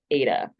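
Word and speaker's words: eta: of curs of in and that's pronounced Ada so we say that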